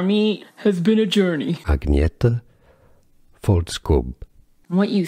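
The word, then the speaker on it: Agnetha Fältskog: Her name, however, pronunciation, for me, has been a journey. Agnetha Faltskog.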